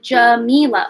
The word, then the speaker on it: Jamila: It's pronounced Jamila. Oh, so I was doing it right.